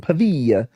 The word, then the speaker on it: Pavia: Meanwhile, the New York Evening Journal and other newspaper printed Brinkley's planted story about his degree from Pavia. Patients flooded. That's the correct pronunciation.